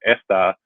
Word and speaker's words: está: writing and spelling and the stress on the second syllable. That's the accent mark kind of lets you know that you'll be putting more emphasis on that syllable rather than the first syllable, esta or estas.